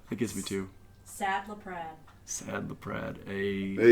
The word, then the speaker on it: LaPrade: with lead um it's not ladre or Lea or Le or any of that it's lead lead remember it rhymes with Brad that's how or Chad